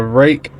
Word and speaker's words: Ruike: uh this is the rake that's pronounced rake from everything I've read and heard on it uh Believe It or Not rake knives 801 p801 as